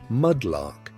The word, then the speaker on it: mudlark: You might be a mudlark, pronounced mudlark, a child who scavenged the muddy banks